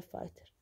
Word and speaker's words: fighter: اصلها هاي كوت، هاي fire fighter، هدي افرجيك مقطع الجي والاتش طلع ما لفظناه، فاير فايتر، فاير فايتر اللي هو الاطفائي.